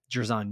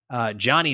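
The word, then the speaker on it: Jer'Zhan: 25, Jerzon Newton. Johnny Newton, excuse me. That's the proper way to say it, boys.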